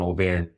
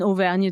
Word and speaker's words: Auvergne: She's from Auvergne, and we both love the countryside.